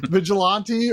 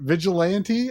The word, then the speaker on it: vigilante: I feel like either pronunciation is valid. I mean, not Vigilant, but Vigilante or Vigilante. I hear both. I think either is fine.